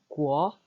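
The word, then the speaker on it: 国: 구어. 네, 이 발음을 따로 저희가 배워야 합니다.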